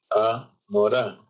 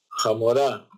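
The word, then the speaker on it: המורה: Entonces había gente que era de Rusia y los rusos H inicial, la H inicial la pronuncian como J. Entonces cuando uno llama al maestro le dice Amorá, Amorá. Entonces ellos decían Jamorá. ¿Qué quiere decir Jamorá? Jamorá quiere decir burra.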